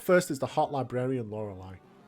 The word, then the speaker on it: Lorelei: is the hot librarian lorelei i always pronounce that lorile as a kid because i was an idiot anyway i lead with